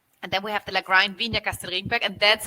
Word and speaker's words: Lagrein: We have the Lagrein Selezione, which is Lagrein. See, we go back to the German pronunciation, right? The Italians would say Lagrein because that's how it's spelled, but it's actually Lagrein, and it's a Germanic name.